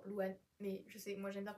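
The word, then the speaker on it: Lou Anh: c'est pas mon prénom il s'écrit l o u espace a n h genre Louan mais je sais moi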